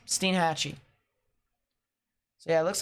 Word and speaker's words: Steinhatchee: landfall they become tornadoes so Steen hatches how it's pronounced makes sense Steinhatchee so yeah it looks